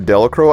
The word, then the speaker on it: Delacroix: We reach the community of Delacroix, and yes, that's how it's pronounced by the locals, despite how Bob Dylan pronounced it in one of his famous songs.